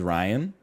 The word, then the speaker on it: Ryan: And my name is Ryan, which rhymes with Lion.